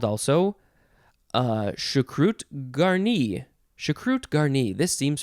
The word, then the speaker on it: choucroute: Okay, next we have choucroute.